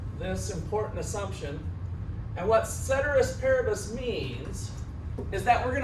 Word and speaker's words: ceteris paribus: I've heard it ceteris paribus might be the proper way to say it.